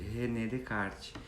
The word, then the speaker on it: René Descartes: é um matemático francês escreve-se renée descartes mais pronuncia-se rené descartes então ele e sempre